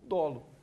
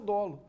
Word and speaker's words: dolo: em sala de aula Cuidado para você não falar dolo eu brinco sempre que alguns alunos falam dolo né Isso é uma pronúncia é questão de pronúncia simples mas policia não vai falar dolo é o dolo crime doloso que é